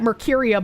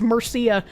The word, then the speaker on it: Murcia: The regional newspaper Opinión de Mercuria, I keep pronouncing that Mercuria, but I'm pretty sure it's Murcia, reported at the time.